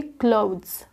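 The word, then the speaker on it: clothes: बिल्कुल ना के बराबर आप इसको द बोलना है। इसको आप बोलेंगे क्लोथ्स। फिर से क्लोथ्स।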